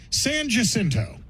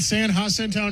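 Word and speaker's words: San Jacinto: In Texas, we have a funny way of taking things that are clearly pronounced one way. Sanjinto. That's right. That's right. You sure it's not San Hento? No, that's Saninto right there. It's got a J in it.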